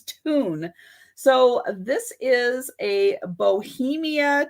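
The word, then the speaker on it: Thun: how to pronounce this it is tune it's spelled t-h-u-n and i wasn't sure about the th so when i did a a little you know internet help me pronounce this word correctly it actually said it was tune so this is a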